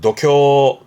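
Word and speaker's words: 度胸: 그래서 발음이 도쿄 도쿄입니다.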